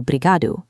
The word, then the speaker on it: obrigado: The word obrigado compresses down to something closer to brigado in fast speech.